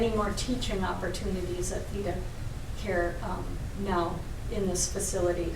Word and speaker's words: Theda: my crotch you're right the name is pronounced theta but i think over